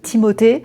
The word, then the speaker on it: Timothée: Désolé, il se peut que je dise Timothé. Je le prononce à la française mais apparemment ça se dit Timothé car je pense que